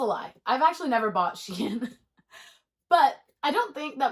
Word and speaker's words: Shein: Similar to how nobody knows how to say Shein, shine, sheen. I don't know. I say Shein. Also, I don't really buy a lot of Shein. That's a lie. I've actually never bought Shein.